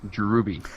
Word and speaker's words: Drewby: It's pronounced Drewby.